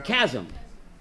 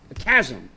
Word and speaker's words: chasm: How do you say it in English? A chasm. Not a chasm.